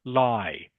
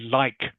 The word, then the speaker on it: like: Are you, for example, in a word like, are you pronouncing the last consonant, the K sound? Or are you saying lie? Okay, I really lie ice cream. Okay, Yeah. instead of really like ice cream.